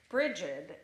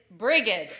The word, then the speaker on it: Brigid: Now, this is the story of Brigid and the Cursed Winter, or Brigid and the Cursed Winter, because how you pronounce her name changes. And I think in this one, she's Brigid.